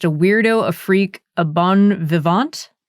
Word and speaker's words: bon vivant: Of yourself, you've said, I'm just a weirdo, a freak, a bon vivant. How do you say that word? Bon vivant.